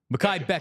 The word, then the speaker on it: Mekhi Becton: I want to make sure I'm pronouncing his name correctly. How did you say it? Becton. Mekhi Becton.